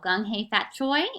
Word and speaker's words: Gung Hei Fat Choi: So, Gung Hei Fat Choi is the way to pronounce that special greeting in the Chinese language.